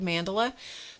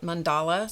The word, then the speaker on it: mandala: That's how I pronounce it. Some people pronounce it mandala. Some people pronounce it mandala. Whatever works for you, it's all the same thing. So you can pronounce it any way you like.